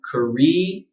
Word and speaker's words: Korea: So in a word like this, in British pronunciation, you want to go Korea, E. So make an E sound, Korea, and then Iya, Korea, Korea, Korea, Korea.